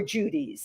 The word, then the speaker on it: Djoodies: You call them Judy's or Judy's? Judy. It's a They're Judy. they're Judy, and it's spelled DJOODIES.